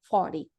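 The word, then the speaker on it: forty: Quando a gente for falar o 40, a gente vai começar do mais alto, do mais forte, por mais fraco. Então, é 40, 40. É tão fraco que no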